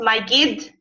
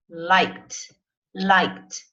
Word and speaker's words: liked: When she was a child, Megan liked, not like it, liked, spending time at the beach.